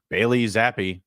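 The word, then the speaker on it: Bailey Zappe: Bailey Zappi, that's how they pronounced it.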